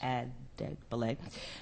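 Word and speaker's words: Adegbile: And then finally, we'll hear from Debo Agdebele. Did I pronounce it correctly? Yes. Agdebele, who is the Director of Litigation at the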